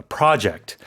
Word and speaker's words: project: If you have a project to work on, which is a slightly different meaning here, but in terms of pronunciation, the stress is on the first syllable in that case.